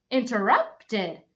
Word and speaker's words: interrupted: ending is pronounced ID sometimes it's pronounced d by itself but in this word it's pronounced ID so it sounds like this interruped interrupted this word is interrupted